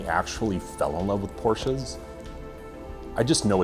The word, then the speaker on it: Porsche: So, yeah, I spelled it Porsche. Porsche. It's two syllables.